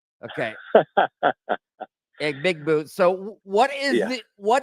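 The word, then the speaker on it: Egbuka: It is Ibuka. Uh, a Mecha Ibuka. That is how it's pronounced. The G is silent.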